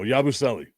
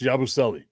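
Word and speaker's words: Yabusele: Yabuselli. There we go. Yabuselli is the way that it's pronounced. Yabuselli.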